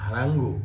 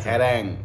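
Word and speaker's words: harangue: হারাঙ্গু? এটা না না, এটা হারাঙ্গো না, এটা হারাঙ্গো না, এটা হচ্ছে মনে হয় হারাঙ্গো বাঙালি, এটা হচ্ছে হ্যারাং। হ্যারাং, ঠিক আছে, হ্যারাং উচ্চারণ।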